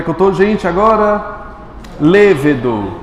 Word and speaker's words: lêvedo: eu tô gente agora lêvedo mais forte é o Lê pronto é o ingrediente